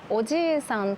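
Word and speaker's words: おじいさん: おじいさんとおじさんも同じです。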